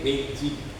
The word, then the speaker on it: Beijing: Ya, tulisannya bahasa kanjinya sama, tapi tulisan bahasa Latinnya, huruf Latinnya satu P-E-K-I-N-G, Peking, satu lagi B-E-I-J-I-N-G, Beijing. Tapi bacanya mirip sama, Beijing. Gitu bacanya, ya.